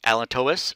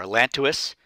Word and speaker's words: allantois: structure is called the Allen Thomas or allantois either pronounciation is fine and it's the structure